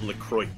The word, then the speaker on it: LaCroix: bottled Lacroix dance lacrosse it's actually pretty much Lacroix as much as I hate to admit it it's actually pronounced Lacroix it should be like